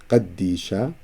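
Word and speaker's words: ܩܕܝܫܐ: Qaddisha, 2 dalets, of course, because it's doubled.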